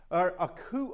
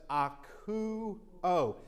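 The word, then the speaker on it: ἀκούω: So we know from diphthongs, these two go together for an oo sound, as in Ruth. Oo sound. That's K. That's the hard O sound. So that's akuo.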